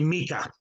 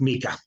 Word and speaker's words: Micah: It's actually Mika. First name's pronounced Mika.